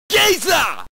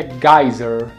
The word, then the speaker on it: geyser: A pronúncia certa dessa palavra aqui é geyser, em inglês, geyser. Mas ele fala gazer.